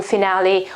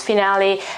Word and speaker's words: finale: it is finale finale the e at the end is pronounced as a okay this is an a sound and er the meaning